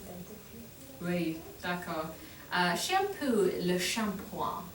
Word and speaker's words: shampoing: Shampoo, le shampoing. Oh, Le shampoing. It looks like shampooing, is how it's spelled.